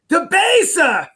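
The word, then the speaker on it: Debaser: And I know I had a beer there before called, do I say it like the song? DeBasa!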